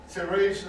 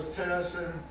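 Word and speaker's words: Terezín: Terrasen or Terrasen is the Czech pronunciation of the name. In German, it's Theresienstadt.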